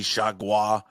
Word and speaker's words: Chargois: They just had a reliever from the Marlins, JT Chargois. Am I saying it correctly? You got it. Chargois.